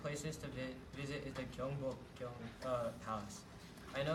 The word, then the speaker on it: Gyeongbokgung: Can you pronounce the name one more time? Gyeongbokgung.